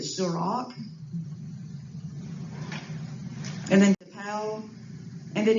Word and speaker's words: Surak: and then in Enterprise they pronounced it Surak.